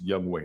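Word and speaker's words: Younghoe: It's Young Wei, not Young Ho.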